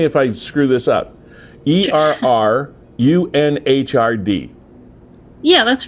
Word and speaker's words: Errunhrd: Okay, and it's spelled ERR. Correct me if I screw this up. ERRUNHRD.